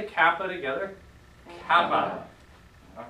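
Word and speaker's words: κάππα: So let's all say kappa together. Kappa. All right. Good. And it makes your K sound. there's not much else to say about it. Because it looks like a K, it sounds like a K.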